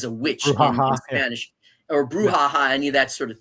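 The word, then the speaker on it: brucha: Uh bruha. B r u c h a. Brha. Bruha. Okay. It has nothing to do with the word bruha like as a witch in Spanish or bruhaha.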